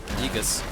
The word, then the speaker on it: Aegis: AE is pronounced E. Aegis.